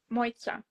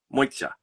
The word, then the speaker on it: Mojca: It was impressively well pronounced. Not correct, but You're really close. Okay, what is the actual pronunciation then for me? Mojca. Mojca. Yeah. Okay. It's I it's funny because since I moved abroad, I realized that it's not easy to pronounce this name. And on top of that, I have a lisp.